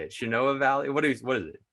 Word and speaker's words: Shenandoah: Shenandoah Valley. What is it? Shenandoah Valley.